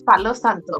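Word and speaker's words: Palo Santo: it right so for anyone watching this is Pao Santo but Santo it's the Gringo way it's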